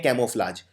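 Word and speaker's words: camouflage: रंग बदलने को बोलते हैं कैमोफ्लाज। तो कैमोफ्लाज में आपको पहले लिखना है कैमो। अब कैमो में एक यू भी आता है। कैमो ये प्रोनाउंस नहीं होता है लेकिन आता है।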